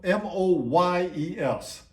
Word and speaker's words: Moyes: Dave Moyes, and it's spelled M-O-Y-E-S.